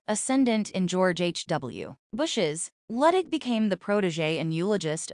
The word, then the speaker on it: Luttig: More than a quarter-century later, it was Luttig, pronounced Luttig, who would get a late-night call to come the aid of his tribe.